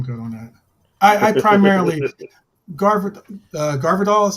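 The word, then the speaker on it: Gvardiol: I primarily Garvidal is how you pronounce his name.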